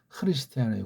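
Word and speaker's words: Χριστιανοί: 헬라스 발음으로 크리스티아노이.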